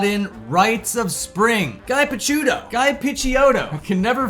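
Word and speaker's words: Picciotto: Piciato. According to that translator, it's Piciato. I've never pronounced it Piciato a day in my life.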